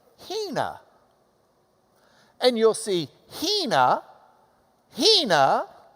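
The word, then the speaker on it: ἵνα: This has got a reverse comma in front, like an open mouth that goes, because it's the H sound. All right? So you would pronounce this Hina.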